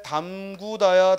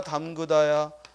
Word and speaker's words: 담그다: 오므리다 해서는 안 되겠다 또 잠그다 잠그다 잠그다 자꾸 잠그다 잠구다 하면 안 되겠다 또 물에 담구다 담그다 담그다 담그다가 아니라 담그다 또 이을 치루다 치르다 치르다 그래서 이런 말들 우리가 의로 의로 발음해야 되는데 자꾸 원순 몸 우로 잘못 발음하고 표기하는 걸 조심하자이 말이에요 그래 잠그다 담그다 치르다 오므리다